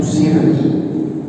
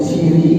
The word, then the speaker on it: sirri: Karena kalau yang saya pahami itu salah pengucapan sebenarnya. Mestinya itu sirri, asal katanya sirrun, rahasia, tapi berubah dia menjadi siri kan.